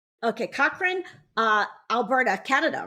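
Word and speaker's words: Cochrane: in her hometown of and I want to pronounce this right. Is it Cochran? Okay. Cochran uh Alberta, Canada, right?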